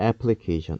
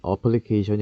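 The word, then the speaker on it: application: 방송에서도 많이 쓴 단어인데요 이거 어떻게 발음 하던가요 o 어플리케이션 어부 아이 라고 하는 단어 에서 온 것이죠 그리고 이것이 명 서버가 되면 애플리케이션입니다 애플리케이션 어플리케이션이 아니구요 그런데 방송에서도 상당히 많은 사람들이 어플리케이션 이라고 합니다 그리그 a 라고 한 a 알파벳은 강세가 있을 경우에 로 발음이 됩니다 애플리케이션이 줘 어 우리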